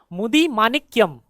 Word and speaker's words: मुदिमानिक्यम: हाल ही में, तेलंगाना के मुदिमानिक्यम गांव में किस नदी के किनारे एक प्राचीन बादामी चालुक्य मंदिर की खोज की गई थी ? सही? उच्चारण करना कठिन है, मुदिमानिक्यम, मुदिमानिक्यम गांव।